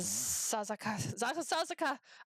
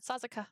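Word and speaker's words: Sasazuka: Sasuka. That's how you say it. Oh my god. Sasuka.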